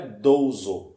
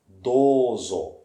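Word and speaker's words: どうぞ: o que acontece é o som ele é prolongadoso não é doso é idoso dor acho que 12 horas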